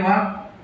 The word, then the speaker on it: walk: WALK ವಾಕ್, TALK ಟಾಕ್, L silent in English.